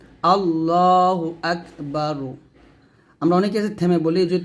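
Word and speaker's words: الله أكبر: যাবে তাহলে বলতে হবে আল্লাহ আকবার জবর এরকম রকে মোটা করতে হবে মানে রটাকে মোটা করে পড়তে হবে আল্লাহু আকবার আকবার হামজা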